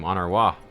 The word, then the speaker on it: Honoroit: Oh, that's how you say his name, Honoroit.